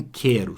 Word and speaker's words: quero: você observar bem ó na palavra quero o queijo juntos tem som de k não tem um som só porque e um som só para o não ele se juntam e formam são de cá olha agora aqui ó